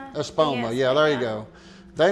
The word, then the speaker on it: Espoma: I cannot pronounce the name of it. Epis Espoma. Espoma.